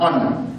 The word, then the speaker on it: honor: Why are we saying an honor? Because H, like I've told you, is silent, and therefore we don't mention the word H, instead we pronounce it at letter O. So we say an honor.